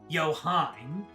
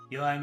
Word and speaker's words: Joachim: Yoheim isn't exact. It's an old Hebrew name. Like, very old. German is closer to straight English. I see. He pronounced his own name as Joachim when he first appears in Reverie, so... Ha! So it's another case where the voice actors were just given improper direction.